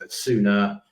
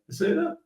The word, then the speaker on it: Essugo: But he outperforms Essugo. Is that Essugo? Yeah, Essugo, I think it's pronounced.